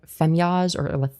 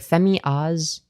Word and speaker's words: Femyoz: I think, but like Femyoz or Femyoz, like Femyoz said fast is just Femyoz, right? And I think that's like fine. I think Femyoz is like a fine pronunciation.